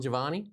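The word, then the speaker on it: Jivani: So Jamil, and I'm not going to pronounce his last name, Jamil Giovanni, is that close? Yeah. There you go. Look at that. That is his name.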